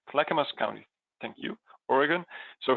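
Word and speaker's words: Clackamas: um CL how do you say it Amy clamus clamus County thank you Oregon so he'll show us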